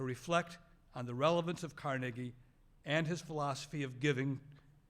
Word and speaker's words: Carnegie: His name is pronounced Carnegie.